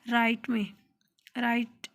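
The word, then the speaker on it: write: नो में के है, मतलब जानना, उसमें हम उसको एक प्रोनाउंस नहीं करते। इसी तरह राइट में हमारे पास ये जी है जिसको हम प्रोनाउंस नहीं करते।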